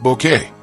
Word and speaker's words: Bucket: Best known for her unforgettable portrayal of Hyacinth Bucket, pronounced Bouquet, as she'd insist, in the BBC's timeless sitcom Keeping Up Appearances.